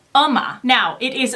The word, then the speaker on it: UOMA: to bring you the brand new round called OMA now it is spelled you OMA but they say on their about Us page that it is pronounced ma so why am i excited about this brand